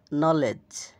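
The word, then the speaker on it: kneel: নাইফ ছুরি knock করানারা আরো যেসব শব্দর শুরুতে কে এন বা জি এন থাকে সেখানে সাধারণত কে এবং জি এর উচ্চারণ হয় না।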